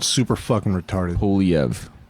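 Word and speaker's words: Poilievre: Poliev. It's got an R in there that's silent. It's like, dude, come on. Polyivor. Polyavra. Yeah, like, okay. Well, you've helped me pronounce it. Poliev.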